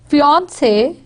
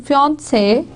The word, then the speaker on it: fiancé: British English second syllable stresses escargot, fiancé, it's on fiancé.